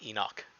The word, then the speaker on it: Enoch: Yeah, It right, is pronounced Enoch. Yes, that is dirty that Canadian? that is correct. It's knock. So not notch. The H is silent.